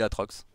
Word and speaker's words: Aatrox: arrêté àn moi mdrn tu dis atrox ou ahrox je dis atrox ça fera un peu forcé de dire ahrox bon de toute façon il y a deux a ça change pas la prononciation que tu dises atrox